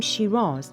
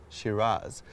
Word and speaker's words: Scyras: He spelled it S-C-Y-R-A-S. And if you pronounce it the Australian way, you would pronounce it Shiraz. So the use of the name Shiraz in Australia comes from a mispronunciation of the variety.